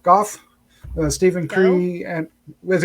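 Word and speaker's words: Gough: cast includes denise uh guff goff uh stephen curry and with a go or golf sometimes it's like van gogh they said uh and her bio it said it's pronounced goth which is like i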